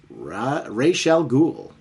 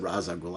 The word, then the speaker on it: Ra's al Ghul: Blue and Batman versus Ra's al Ghul. I almost said Ra's al Ghul. I do sometimes say I jump between both because depending on the medium, it's actually pronounced both.